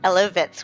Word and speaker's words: Elovitz: Eloitz or? Eloitz with a V.